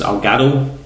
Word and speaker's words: Elgato: at um also um I'm here in this algado that's how you pronounce it uh to record so I might